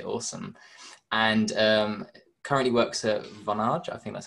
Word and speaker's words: Vonage: And currently works at Vonage, I think that's how I pronounce it. Vonage.